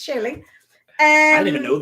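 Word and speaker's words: Shili: s i h i l e how you pronounce that actually yeah sure not chili chili I I it's chilly and I didn't even know that like I'm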